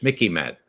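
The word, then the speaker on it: MICIMATT: Mickey Mat rhymes with Mickey Mouse.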